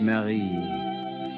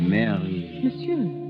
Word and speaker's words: Marie: lover mademoiselle your name in france we say it marie the english way i think is so much sweeter they say mary yes the english way